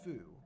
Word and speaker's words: fu: I don't mean that towards anybody, but fu is how you would spell it. So, this is this is foo. Okay, which is silly because like foo sounds like two, but Give me a break.